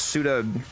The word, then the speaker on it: Suda: It's Yeah, it's Arbiters, Yeah, Pseudo, no, it's- Steel Meridian, and then Loka, Veil, Perrin.